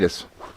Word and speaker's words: Pilatus: But the bigger question I have for you is, and I want to make sure I was pronouncing his name right. Rob Pilatus? Is that right? Pilatus.